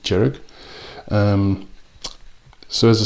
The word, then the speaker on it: Dearg: they've called it now I'm not sure sure on the my pronunciation of this but D jerich spelled D e r g I think you you pronounce it jerich um so as I